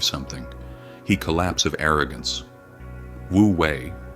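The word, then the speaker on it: wu wei: Wooi pronounced woouei is the art of effortless action.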